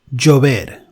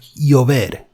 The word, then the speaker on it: llover: it's considered as one, is pronounced differently depending on the region. For example, in Mexico, it can be pronounced a bit stronger, like llover, instead of llover, as in Spanish, in Castilian Spanish, the Spanish variety of the Spanish language. And in Argentina, it can be like llover.